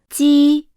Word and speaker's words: 鸡: is similar to that of 鸡。 but with a stronger airstream, as 七。 is an aspirated sound. While 鸡。 is inaspirated, the sound is produced